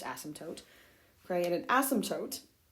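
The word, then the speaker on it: asymptote: toote we said that's another important thing it's pronounced ASM toote okay and an ASM toote is a boundary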